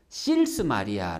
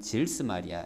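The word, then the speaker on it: Sils-Maria: 2의 탄생을 경험이에요 특히 질수 마리아 라는 마을에서 혹은 도시에서 실수 마리아 라고 발음하기도 해요 근데 독일은 s 가 앞에 있으면 질수 마리아 이라고 발음을 하게 되요 그래서 신은 질수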